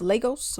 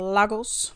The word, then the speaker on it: Lagos: Apparently it's pronounced Lagos, but I call it Lagos.